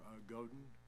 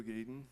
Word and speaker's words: Gaden: We have Joe Godin. I believe that's right. Did I pronounce that correctly? What? No, but that's okay. I'm used to that. My name is Joe Gaden.